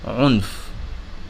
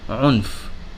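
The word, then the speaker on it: عنف: When it has dhamma, it sounds like the word unf, unf, which means violence.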